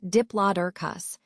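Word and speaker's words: Diplodocus: Let's take a closer look at Dloicus, pronounced diplus, which means double beam.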